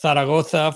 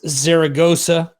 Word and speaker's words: Zaragoza: in a city called in spanish it's pronounced taragota for the uh the english-speaking crowd it's zaragoza um that was at